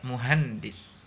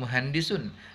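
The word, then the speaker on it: مهندس: muhandis tapi muhandis jelas muhandis gitu ya kalau dalam kehidupan sehari-hari kita banyak Sebutkan kalimat itu secara sukun bukan mohandi Sun Tapi muhandis kalau dalam saat belajar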